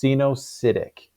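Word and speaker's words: coenocytic: Or they can be what we refer to as, this looks like a weird spelling here, but it's pronounced cenocytic, meaning that there aren't these cellular units that separate these different cellular areas.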